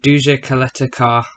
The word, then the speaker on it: Duje Ćaleta-Car: league for marseille called duja coletta car that's how you say it um and walls have